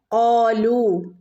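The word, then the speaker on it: قَالُوا: ഖാലൂ, ഇവിടെ ഖാലൂ വാവ് മദ്ദുണ്ട്, 2 ഹറക്കത്ത് നീട്ടി ഓതണം കേട്ടോ. ഖാലൂ, ഇവിടെ അലിഫിൻ്റെ മുകളിൽ സുക്കൂന് വന്നാൽ നമ്മൾ ഇവിടെ പ്രത്യേകിച്ചൊരു ശബ്ദം കൊടുക്കുന്നില്ല.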